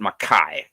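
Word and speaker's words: Mackay: is called McKay spelled McKay but they they pronounce it maai I don't know why they pronounce it maai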